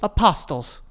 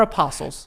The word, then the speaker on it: apostles: Apostles. No. No, Frankie. They're apostles. But it's spelled with a T.